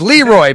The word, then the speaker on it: LeRoy: It's Leroy, baby. You gota You gota have that emphasis on the Lee.